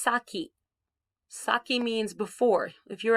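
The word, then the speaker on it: 先: going to show you this kanji which is pronounced saki saki means before if you're at a door with someone you might say osaki nidozo you go first okay sometimes it's pronounced sen and it means before so here we have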